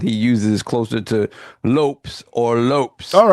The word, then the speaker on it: Lopez: So So apparently pronounces his last name as Lops rhyming with hops.